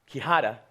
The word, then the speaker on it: Quijada: Quijada, spelled with a Q, not a K, not spelled with an H, but a J.